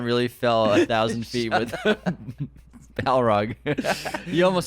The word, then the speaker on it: Balrog: Balrog. Balrog. Balrog. In my head, I spell it right and everything. But you always say ball Ball rag.